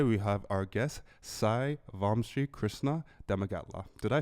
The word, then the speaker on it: Vamshi Krishna: comedians and today we have our guest Sai vom Krishna deaga did I say it right perfect oh